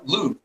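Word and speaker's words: Loupe: it's a it's uh loop it's spelled like coup DeVille just with an L Loop yes sir is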